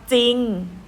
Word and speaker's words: จริง: จอ รอ อีก งอน จริง ใช่ ไหม คะ คำ ว่า จริง ออก เสียง แต่ จอ จาน คำ ว่า เศร้า ศ.